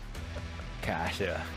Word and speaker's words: Cache: see you back after K Cas is that how they say it C in Australia yeah rushley says it a little different from other Australians but cash is what he said he calling is calling